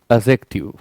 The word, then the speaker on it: adjective: एडजेक्टिव D silent है। जब भी डी जी डी जे ये एक साथ आते हैं तो डी का प्रोनाउंसिएशन नहीं किया जाता है।